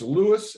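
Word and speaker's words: Lewes: to to England um I want I want to pronounce it correctly it's Lewis l e w e s is that the city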